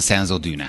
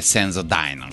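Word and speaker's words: Sensodyne: Senki nem mondja Senso Dine-nak, pedig az egyébként az a jó kiejtés.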